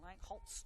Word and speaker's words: Langholz: The referee today, I should say, is Hayden Langholz. Or Langholz, I should say. The German pronunciation is, or Germanic pronunciation, I should say. Probably more accurate than the way I said it the first time.